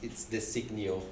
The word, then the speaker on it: Desiknio: First of all, what is the correct pronunciation for Desiknio? I have to say the name is a bit difficult. So it's Desiknio.